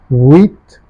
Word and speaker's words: huit: Sept, huit. There is no her sound as I keep repeating.